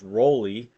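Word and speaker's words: Raleigh: Peter says it's pronounced Roley. Roley.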